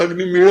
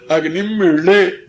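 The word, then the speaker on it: अग्निमीळे: हाँ, ओढ़ा भी नहीं है, ओढ़ा होता तो अग्नि मीले हो जाता। अग्निम मीले, अग्निम मीले पुरोहितम यज्ञस्य देवम ऋतुजम होतारम रत्न धात्वम।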